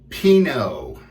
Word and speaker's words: Pinaud: out the google and just like the wine pinot is what we're going with here as our soap and